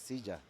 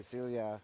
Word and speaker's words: silla: But yes, the double L in Spanish is actually like a J, so it's Silla. yes, So Silla, cuchillo. yeah, But here, because of the Americans, you pronounce it like in English. yeah, So you say Celia, cuchillo.